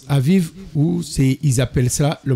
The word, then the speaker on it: Aviv: Vous sortez aujourd'hui, voilà, verset 4, vous sortez aujourd'hui au mois d'Abib, hein, ça se prononce Aviv, ou ils appellent ça le mois de Nissan, dans le calendrier actuel chez les Juifs.